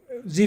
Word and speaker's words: dZi: dzi stand for well it's dzi but it's pronounced z and it's small d